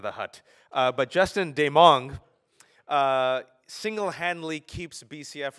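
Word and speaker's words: Desmangles: first read his name I thought it was Des mangles because that's it's pronounced d it's it's written d s m n a n g l- s but it's dong much like when people say I have a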